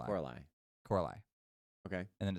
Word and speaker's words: Coralie: for Amelia Perez, and Coraline Farge, I think, that's how you say her name, for The Substance. Coralie. I think it's Coralie.